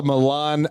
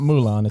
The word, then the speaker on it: Milan: that just took place spelled like the Disney character Yes except there's no there's an eye instead of the U because it's an Italian city called Milan it's not Mulan Mulan Fashion Week Mulan